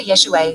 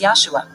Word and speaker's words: Yahshua: which is short for yeshua joshua just as mike is short for michael why then do some people refer to jesus as yahshua there is absolutely no support for this pronunciation none at all and i say this